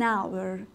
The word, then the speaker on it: hour: اما این H غیر ملفوظ هست، یعنی تلفظ نمیشه. خود H صامته، تلفظ نمیشه، O بعدش تلفظ میشه.